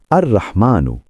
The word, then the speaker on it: আর-রহমান: আর রহমানু, উচ্চারণ আর রহমান, অর্থ পরম দয়ালু, ইংলিশে দ্য মোস্ট মার্সিফুল।